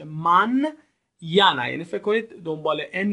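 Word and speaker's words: mañana: لا مانیانا، ببینید دوستان، انی که در واقعش اون علامت رو میبینید به صورت نیه، نه و یه تلفظ میشه. من یانا، یعنی فکر کنید دنبال ان یه یه هم وجود داره.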